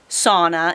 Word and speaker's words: sauna: are from Finland and the proper way to say sauna is sauna. That's the Finnish word for it.